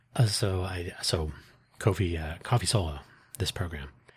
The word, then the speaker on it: Ko-fi: Uh Kofi, I say it like that because it's ko hyphen fi.